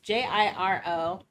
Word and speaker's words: Jiro: So is it Euro? Oh, how was it Giro? pronounced? It's Jiro. Hang on, I wrote it down somewhere else because I didn't realize he would be important, so I didn't write his name down until later. He works with Jillian, but he is Giro. Like, I think Giro? It's Hero. Oh, yeah, I pronounce it Hero for some reason, but Hero. It's kind of Japanese sounding last name.